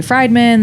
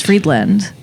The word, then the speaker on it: Friedland: The last name is Friedland. People want to say Friedman. They want to say Friedland. It's out of control. It's Friedland? It's Friedland. Like Fried.